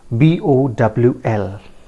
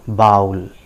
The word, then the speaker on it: bowl: So the word is spelled as B-O-W-L, right? How do you pronounce it, friends? Many of us pronounce it bowl.